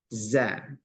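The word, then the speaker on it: ظ: ini dia kebalikan pertama dia tidak ada angin atau suara pengantar apa namanya e anginlah ya dia termasuk huruf jahar Jar Itu artinya Dia ee huruf kalau diucapkan maka tidak mengeluarkan nafas tidak mengeluarkan nafas tidak mengeluarkan desis tapi suaranya dia agak ee nafasnya agak tertahan Za Za makhrajnya sama H Za Za tapi tidak boleh Z Za jangan sampai ada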